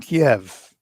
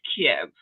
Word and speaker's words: Kiev: Thank you for saying Kiev.